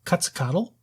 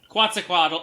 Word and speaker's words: Quetzalcoatl: Do you guys think it almost resembles Quetzalcoatl? I think that's how you say it. Quetzalcoatl, yeah, it's the Aztec god.